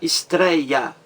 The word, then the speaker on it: estreia: Outro exemplo, a palavra estreia, estreia, 3 sílabas, estreia, 3 sílabas. A mais forte, trei, estrei, treia. A mais forte é a penúltima, trei.